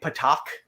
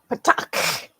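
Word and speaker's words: petaQ: In the show, they just say patak, and that's not the correct way to say it. Because remember, the capital Q, what does that sound? Do you remember? No, I don't. It's the super harshest guttural sound.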